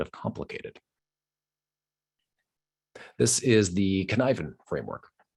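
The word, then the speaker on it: Cynefin: This is the Conniven framework. It's a Welsh word, which is why the way it's pronounced is completely unrelated to the way it's spelled.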